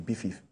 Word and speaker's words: BIFIF: So it is pronounced BIFIF. So so the acronym for Badagry International Film Culture Transport Festival. So it's BIFIF.